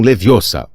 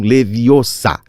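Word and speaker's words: Leviosa: "É vingar de um leviossá, o gar bem pronunciado e longo.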